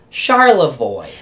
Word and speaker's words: Charlevoix: How do you pronounce that one? Charlevoix.